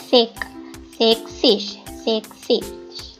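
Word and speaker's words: sechzig: එතකොට 40ට කියන්නේ 40 60 හැබැයි මෙතනදී sex කියන එකේ s pronounce වෙන්නේ නැහැ ඒක යොදා ගන්න නැහැ sexish 70ත් එහෙමයි සීබන් කියන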